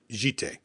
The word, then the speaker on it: Jitte: Or Jitty. Jitty. Like, I hate that.